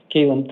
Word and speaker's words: Kaylin: All right, Callum, please. And then Christian Aivo. All right, sir. Go ahead and state your name. Kaylin. All right. And I apologize for mispronouncing your first name.